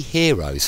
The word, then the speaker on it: Heron: formula before it's actually Heron's formula i think it's pronounced hero and not heron ruler is spelt heron